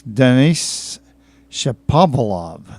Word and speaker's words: Denis Shapovalov: You got Robin Haas, Roger Federer, Alexander Zverev, who is an amazing 18-year-old German player, and this Denis Shapovalov.